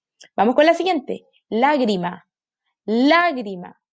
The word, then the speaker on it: lágrima: Lágrima. Aquí está su sílaba tónica, en la antepenúltima. Y es una palabra esdrújula.